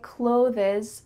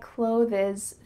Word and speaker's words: clothes: one word can you guess which word I mispronounced I by Clovis through the internet I buy clothes through the internet hmm which one did I